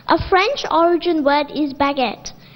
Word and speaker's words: baguette: A French origin word is baguette. In the end, it sounds like et, but it's spelled like E-T-T-E.